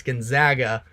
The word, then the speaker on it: Gonzaga: negativity based off of the way that I pronounce their name it's Gonzaga but they should be in